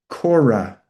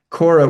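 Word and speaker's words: Kore: know, children's book but her name is also Cora or Oh. It's k o r e with a little kind of um upside down v on top of it in ancient Greek. Cora which means the maiden or the virgin.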